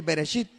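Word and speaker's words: בראשית: Y así como está escrito, así se escribe en el hebreo. Amén. En el hebreo, en el principio, se dice Bereshit.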